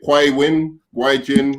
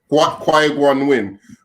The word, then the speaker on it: Qui-Gon Jinn: All right, so we've got the relationship between is it Qui-Gon Jinn? Qui-Gon Jinn. Qui-Gon Winn. Okay, so we've I got got him. It's 3 syllables, nerd man.